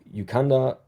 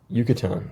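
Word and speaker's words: Yucatán: Famous regions Yukanda Peninsula Baja California copper can cooper copper canyon river Maya uh let's just double check how I pronounce this Yucatan Excuse me. My bad.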